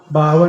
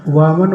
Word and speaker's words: वामन: कितने ही कहूँगा 52 नहीं बोलना है, वामन बोलना है, लेकिन निकलता वही जो आदत पड़ेगी, है ना।